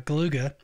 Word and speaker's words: Galuga: getting through Contra uh galuga and yes that's how that's pronounced it's how they pronounce it in the game to it um went